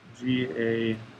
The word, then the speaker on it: gauche: here and remember this is called the staggered gauche conformation g-a-u-c-h-e okay i know that's weird but hopefully you